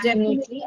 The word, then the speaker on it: definitely: Definitely and destiny. Destiny both of them have to be narrower e sound not a.